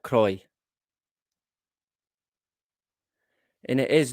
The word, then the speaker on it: Croy: not spelled c r o iix but definitely pronounced and spelled Croy and it is not not even very far